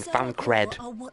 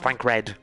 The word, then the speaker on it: Fancred: __ ] cry saying fan cred his name is fancred not frank red every nation may be